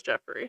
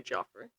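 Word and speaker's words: Geoffrey: In English, we would pronounce that as Jeffrey. Okay. So, I'm just going to say Jeffrey the I think. But in like other countries, that would be Joffrey.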